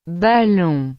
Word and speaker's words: ballon: Por fin, O, N, o menos frecuentemente, O, M se pronuncia. on, Por ejemplo, ballon, que significa balón.